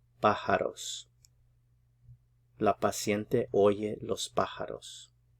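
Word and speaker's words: pájaros: patient hears the birds put the stress here on the first syllables because the accent mark is there pajaros La paciente Oye Los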